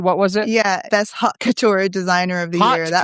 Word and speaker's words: haute couture: It's actually French. Haute Couture means high Oh, dressmaking. oh, okay. So I was even saying it wrong.